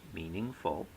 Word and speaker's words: meaningful: will tell you that the word meaningful meaningful three syllables has a primary stress on the first syllable a secondary stress on the third syllable and no stress on the second syllable in poetics especially in